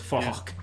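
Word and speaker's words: Phuc: His name is Falk, but it's spelled with a PH, so it's Falk.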